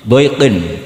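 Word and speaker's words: ضيق: Tapi qiraah kita fala takufi doiqin, bukan pakai apa? Dikin.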